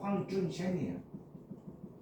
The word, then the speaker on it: 황준헌: 얘가 중국식 발음으로 읽으면 황준셴이야. 안중생. 황준헌이 황준셴이야.